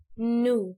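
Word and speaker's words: knew: طب الماضي بتاعها new، زي لما بتنطق كلمة to كده فتقولها ايه؟ تقولها new زي to عشان تفتكرها، عشان متنساش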